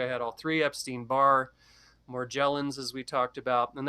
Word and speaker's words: Morgellons: had all three epstein-barr more gel ins as we talked about and that is the correct pronunciation like Magellan more gel ins more